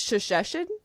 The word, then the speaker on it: Shesheshen: So it's shashes. Shashes. Okay. Yes. And the narrator did a great job. So, all right. So, Shashesin is a monster.